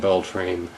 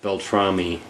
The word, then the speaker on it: Beltrame: uh Frank belr belamy I keep wanting to call him belr but Beltrami uh and I'm probably